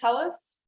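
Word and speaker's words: Thales: me my name is Tellis I'm named after this very hairy dude um uh and it's pronounced in the German Way who knows how the how the Greeks pronounced it so glob clusters um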